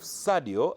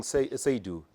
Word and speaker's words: Sadio: Instead of Sadio, I was actually saying Seydou. Instead of Sadio, I was saying Seydou. And guys were like, Otai, it's Sadio. Don't you watch Premier League?